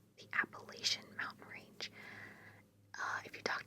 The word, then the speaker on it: Appalachia: If you say it wrong, I will throw an Appalachia.